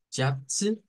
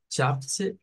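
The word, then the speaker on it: Schätze: De todas estas palabras que terminan con alguna vocal E más una consonante, el sonido no es como el, no es como en, sino que es con el schwa.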